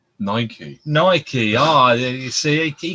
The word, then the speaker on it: Nike: this of the information nikkei is how you pronounce it nike nike ah you see